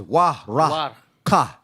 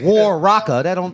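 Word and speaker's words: Waraqa: In Arabic, it's Waraka. You don't say it like that. Waraka. Waraka. Yeah. Abagadaha. Yeah, it's an Arabic. There's a wa, there's a ra, and a ka. So you can't say war raka. That's not how you say it. Waraka.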